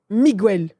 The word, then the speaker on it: Miguel: Mais c'est Miguel. Mais il dit c'est Miguel. Normalement, les Espagnols prononcent Miguel.